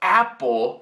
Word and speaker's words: apple: O símbolo nacional do Canadá, o maple leaf, tá pronunciado maple, mas a fruta, apple, tem dois P's. E aí, a vogal dentro permanece curta, sem pronunciar o nome.